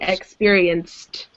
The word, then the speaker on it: experienced: And same with this one. There's no id sound at the end. It sounds like a T. Experienced.